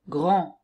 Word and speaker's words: grand: Par exemple, grand, grande. Donc, le premier, le masculin singulier, je n'entends pas le D, mais au féminin, oui, grande.